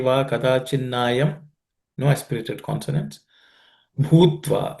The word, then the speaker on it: भूत्वा: Bhutva. In the bhutva, the bhu is aspirated.